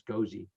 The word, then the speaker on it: Gosey: of that correct now i always thought it was ghazi but it's cozy 595 west lake ave